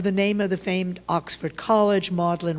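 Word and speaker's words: Magdalen: famed a Oxford College modlin rhymes with dodlin spelled differently and imitates the president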